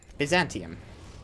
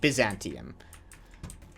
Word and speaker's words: Byzantium: not happening all right Byzantium Byzantium however you want to pronounce it you want to pronounce it Byzantium I go back and forward between Byzantium and Byzantium you have a problem